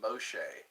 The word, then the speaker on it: Moshe: of Moshe they say in Hebrew his name is pronounced Moshe and uh they found